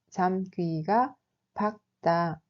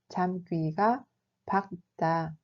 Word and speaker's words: 잠귀가 밝다: 잠귀가 밝다 se prononce comme 잠귀가 밝다. 잠귀가 밝다.